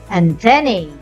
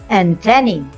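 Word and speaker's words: antennae: try the first one I often hear this word as Anthony but the correct one is antenna this is a plural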